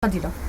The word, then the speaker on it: Fadila: Fadila. Fadila. Ouais. Ça s'écrit F-A-D-I.